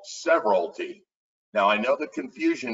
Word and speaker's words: severalty: So when you take property as a sole individual, it is called severalty. That's how it's pronounced, severalty, all right?